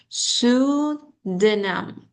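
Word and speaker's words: pseudonym: look at this word, we have P uh like in like here uh underline P S E. So are we going to uh pronounce this P or we going to focus on S? So here we're going to focus on S not MP. P is silent.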